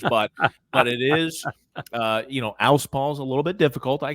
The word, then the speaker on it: Alspaugh: Alspaugh's a little bit difficult.